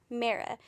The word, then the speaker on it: Mara: how it's pronounced because the author says it rhymes with kara so i'm gonna say